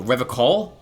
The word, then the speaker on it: Revachol: He pronounces Revachol with a hard K. Oh, Revachol? Revachol. Unlike other people.